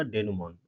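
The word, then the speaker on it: denouement: इसका प्रोनाउंसिएशन जरूर ध्यान देंगे। इसका प्रोनाउंसिएशन होगा डेनमोन।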